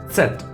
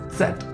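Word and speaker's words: Zett: z is pronounced as set except a little bit a silent sound from d but more strong in z and t in the end strong d set set you can say like in pizza so sal and are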